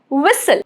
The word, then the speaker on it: whistle: Rule number 2, silent in words ending in S-T-L-E, like whistle, T is silent, castle, get it?